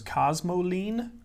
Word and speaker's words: cosmoline: cast iron surface surfaces cosmoline cosmos spelled like it sounds uh ine cosmo cramer and you have